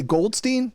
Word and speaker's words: Goldstein: I would say Goldstein, because, Jewish and all.